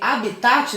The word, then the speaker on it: habitat: o primeiro termo seria habitat que apesar de se inscrever habitat sem o acentinho no primeiro a se pronuncia como se tiver com acento não abre o habitat é